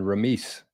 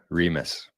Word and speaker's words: Remus: Arnie and Ramis Insurance. Who's Ramis? Is that the wolf? Must be. Remus. Remus. That's a name that you would avoid as a kid. Remus. Rhymes with penis.